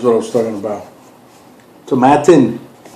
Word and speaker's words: Tomatin: Tomatin. It rhymes with satin.